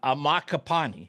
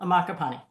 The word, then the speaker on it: Ammaccapane: about saying it I said it wrong uh amak capani is that right yeah Danielle amaka Pani Danielle amaka Pani I'm sorry about that but